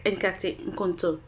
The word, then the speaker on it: Nkate Nkonto: Alors aujourd'hui je vous présente une de nos recettes favorites ghanéennes qui est la soupe épinards et pâtes d'arachide que l'on prononce Nkate Nkonto.